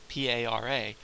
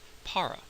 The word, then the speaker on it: para: English speaker and you're probably going to pronounce that word para with a aspirated P that's what that small H indicates and a very English sounding R para right and that's